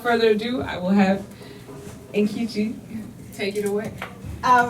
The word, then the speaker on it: Nkechi: I pronounce it Nkechi because you know our tongues are colonized. If I were in Nigeria, it would be Nkechi.